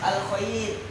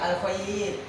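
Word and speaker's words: الخير: Jadi membacanya lunak seperti al-khair. Lunak al-khair.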